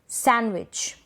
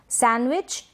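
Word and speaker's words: sandwich: जैसे कि Wednesday, handsome, handkerchief, सैंडविच। सैंडविच ये गलत प्रोनाउंसिएशन हो जाएगा। सैंडविच, हैंडकरचीफ, हैंडकरचीफ, डी यहाँ पर साइलेंट है, तो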